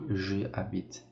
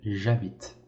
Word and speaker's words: j'habite: Então, por exemplo, não fale je habite, sim j'habite, j'habite.